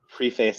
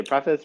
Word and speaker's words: preface: And it's funny you say preface like a Brit. Americans say preface. British Europeans say preface.